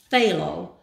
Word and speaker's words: Phthalo: Then we have the Artist Loft Turquoise, and I thought this was Phthalo, but the pronunciation is Artist Loft Phthalo Blue.